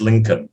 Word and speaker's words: Lincoln: but that's a hard one l-i-n-c-o-l-n-col but it's pronounced lincoln yeah were his parents happy to see him